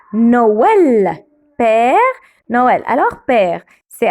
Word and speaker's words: Noël: Alors, on le prononce oe, oe, oe. Comme Père Noël.